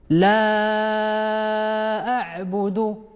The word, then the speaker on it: لا أعبد: أيضا حرف الألف المهموز، وتنقراوها بمد حرف اللام 6 ديال الحركات، وراه تعرفنا من قبل طريقة كيفاش كنحسبوها. رددوا من بعدي لا أعبد. لا أعبد.